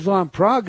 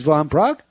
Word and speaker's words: Van Praagh: letters and talking points today but first james von prague is the new york times best-selling author of